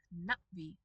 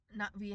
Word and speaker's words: Na'vi: want to point out this underline that we have under the na. That is a stress marker on the first syllable. Natvi has stresses and they